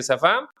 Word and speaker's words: savant: Bien pronunciado en francés, sería algo así como el síndrome de Safá, eh, o algo parecido.